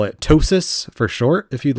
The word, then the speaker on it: TOSAS: you can call it ptosis for short if you'd like it rhymes with gnosis kind of like that